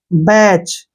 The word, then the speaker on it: batch: BATCH, यहाँ पर फिर से TCH आया तो टी को छोड़ देंगे, BACH, बैच।